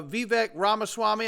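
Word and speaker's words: Vivek Ramaswamy: powerful moment right here uh this is uh vivec ramaswami I believe it's how you say his name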